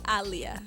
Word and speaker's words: Aaliyah: the corect the kect not the conect pronunciation pronunciation it is aliia Ali is my real name it's very